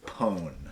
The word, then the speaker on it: pwn: one's just bad the pone P WN no vowels pwn n to dominate or defeat PR pronounced like own paren I totally pawned my opponents in an